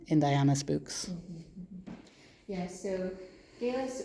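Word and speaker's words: Geillis: Yeah, so Gillis or Giles or Giles, we've heard different historians have different ideas of how that might have been pronounced. We don't actually know, it's another one of those things. Yeah. But we'll say Gillis.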